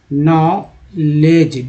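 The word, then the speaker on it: knowledge: सूचना या ज्ञान को बोलते हैं नॉलेज, नॉलेज। DG में D जो है ये साइलेंट लेटर है हमारा, तो याद रखिएगा साइलेंट वाला।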